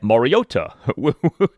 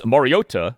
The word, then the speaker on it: Mariota: Saying the name as Moriota with the T pronounced like a D, that sounds much more natural and conversational.